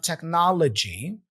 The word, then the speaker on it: technology: in line we have technology so techn here's another schwas sound here and remember the symbol right here D plus Z let's say is a JJ sound so g l g l g technology all right so what